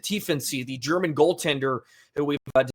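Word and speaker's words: Tiefensee: Um and then one last shout out, a shout out to uh Arno to Tency. That's that's how you pronounce it. Tensy, the German goalender who we've discussed here uh quite a bit recently.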